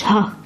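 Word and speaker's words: झ: add a small line to it like this and that one now it is /jhʌ/ not "jaha", it is "jha" because some people get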